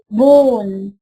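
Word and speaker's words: bone: هنا عندنا عظام بون الإي دي سايلنت مش هنطقها.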